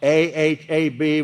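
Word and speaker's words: אהב: Pronounced A-H-A-B with low pronunciation, ahab.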